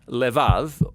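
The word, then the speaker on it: לב: We're going to look at the fourth key word in this prayer, heart, which in Hebrew is sometimes pronounced levav, or more often in a shorter form, lev.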